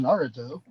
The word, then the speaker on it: Naruto: It's pronounced Naruto. Naruto.